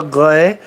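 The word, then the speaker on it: Grès: Homme de Grey. Grey, you've got that entirely right, except the last letter. It's not Y, it's S. Homme de Grez. But it's pronounced grey, you know.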